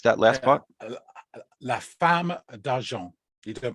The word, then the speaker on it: La Femme d'Argent: La Femme d'Argent. You don't pronounce the Right.